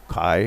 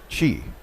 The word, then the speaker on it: Qi: Yeah, I guess some people might try to actually think it's a word otherwise in English, Kai or something, whatever. Chi.